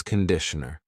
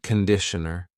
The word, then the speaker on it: conditioner: This is shampoo and this is conditioner. Be careful of the pronunciation. It's not conditioner, it's conditioner. The first vowel is a schwa.